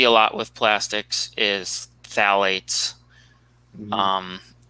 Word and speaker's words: phthalates: lot with plastics is phthalates um that's the weirdly spelled word that starts with ph but it's pronounced phthalates um so with those